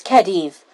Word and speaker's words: Khedive: you to them to the team this is kedive kadiv kadive how do you think that name is pronounced hmm thank you this is khedive a scholar specifically called in from sumeru his